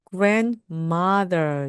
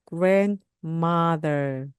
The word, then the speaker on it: grandmother: 말씀하시면 됩니다 그러면 할머니는 grandmother 됩니다 앞에 나오는 그은 똑같습니다 의미가 어머니보다 한 세대 위에 어르신을 말하는 거고 그래서 grandmother grandmother 이때도는 발음되지 않습니다 그러면 할머니도 마찬가지예요 grandma